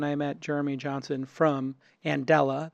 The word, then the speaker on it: Andela: met Jeremy Johnson from and Ella that's pronounced a n de la and Ella like Mandela as in Nelson and they were founded